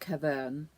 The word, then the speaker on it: Caverne: This colour is called Caverne 24414, just in case my pronunciation misleads you.